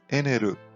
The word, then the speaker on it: Enel: Vamos agora para um dos vilões preferidos de muita gente, o Enel, ou na pronúncia em japonês, Eneru.